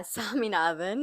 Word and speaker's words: Saminathan: Am I pronouncing that correctly? Yeah, Saminathan.